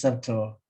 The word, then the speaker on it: subtle: sukuma why something is subtle because of its security or subterranes society or certainty or so we are right so 30. 30 subterness and subtility by the way sayadaw the b is silent this is certain not